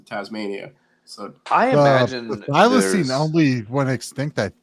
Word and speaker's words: thylacine: That's the Can anyone pronounce Tasmanian that? tiger. Thylacine.